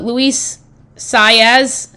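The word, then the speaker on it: Luis Saez: Uh Luis Saz, is that how the correct pronouncing of the jockeyy's name?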